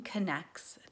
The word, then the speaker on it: Connex: it's brain connects therapy so it is brain connects therapy it's a plan words with the X versus co NN ECT s right so